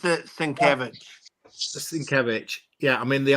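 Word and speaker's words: Sienkiewicz: Moore and Bill sovic great series he he pronounces it svich svich yeah I mean the Art's amazing it's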